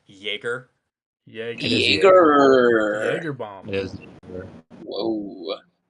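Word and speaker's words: Egor: Apparently, I've learned that it's pronounced Jaeger.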